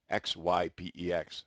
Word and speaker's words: Xypex: can pick up a Zypex branded product, or you can, that's spelled Z, not Z, it's Xypex, like Xerox, okay?